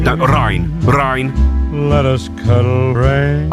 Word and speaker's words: Ryan: Rain. No, Ryan.